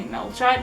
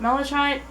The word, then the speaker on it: malachite: they got my malachite which i used to say melted but i didn't know it was called that you probably pronounce that malachite it's this gorgeous kind